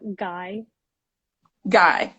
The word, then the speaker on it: Gueye: name so will you tell me the correct pronunciation of your last name yeah guy guy all right everyone welcome to let's talk thursdays